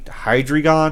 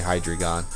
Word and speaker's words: Hydreigon: you say his name I can't ever really pronounce it correctly but if hi hydreigon hydreigon yeah I'm gonna say hi dragon um it would look so cool okay here's